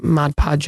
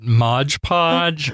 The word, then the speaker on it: Mod Podge: awesome and then uh Mod Podge over it I said it right that time talk about that how we've been calling it Modge Podge or I don't even something else well I think I always called it Ma Podge because of the hjge